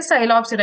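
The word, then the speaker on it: Psilopsida: Okay, साइलोप्सिडा, here P is silent.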